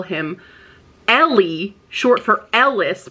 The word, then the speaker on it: Eli: They call him Ellie, short for Ellis, but they spell it E-L-I. And I'm like, that doesn't read well, because I constantly was calling him Eli, but I have to remember it's Ellie because it's supposed to